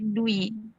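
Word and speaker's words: Dwi: this is my name it pronounced like do we do we perfect okay yes okay so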